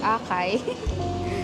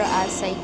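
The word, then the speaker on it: açaí: Before, alam nyo ba, ang pronunciation ko, akala ko Akay. Pero Asai Kick pala siya. So, A-C-A-I.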